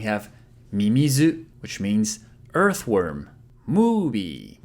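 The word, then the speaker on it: ムービー: Movie. So make sure to stretch the vowels.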